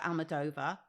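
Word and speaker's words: Almodóvar: One of them is Bitter Christmas by Pedro Almodovar. Is that how you say it? Oh, she got it Almodovar.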